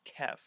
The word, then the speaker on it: khef: what i'm gonna say now kef is another term that comes from the dark tower series it's spelt k-h-e-f and what it effectively